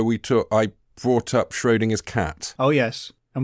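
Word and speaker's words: Schrödinger: took i brought up schrodinger's cat oh yes and we debated how to pronounce schrodinger yeah cause i for some reason i don't know why i thought it was schodinger it's not obviously i did google what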